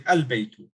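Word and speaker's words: البيت: actually a moon letter so therefore i will not pronounce i will pronounce sorry i will pronounce the lamb so i'll say albeit so the same has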